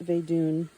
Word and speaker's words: Vedun: Footnote pronounced Vedun.